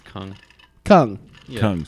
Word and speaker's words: Kung: It's Kung. Kung. Yeah. Kung. Say it, Kung. Kong.